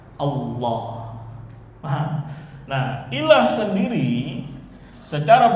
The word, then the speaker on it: Allah: Kemasukan alif lam jadi apa? Alah. Tapi karena sering pengucapan akhirnya dibaca apa? Allah.